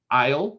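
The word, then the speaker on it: Ile: breakfast fog the sniper isle which is uh the new england pronunciation of oil um the long voyage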